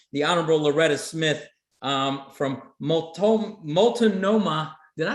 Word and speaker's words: Multnomah: The Honorable Loretta Smith, from Multnomah, did I say that right? County in Oregon. How do you say it, Derek? Multnomah County.